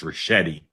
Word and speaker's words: Ricchetti: Okay, I will politely and gently tell you his name is pronounced Ricchetti. Oh, okay. Soft.